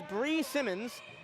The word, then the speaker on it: Bree Simmons: Inbounding the ball is Bree Simmons. I was just informed that's how you pronounce it, so apologies to Bree.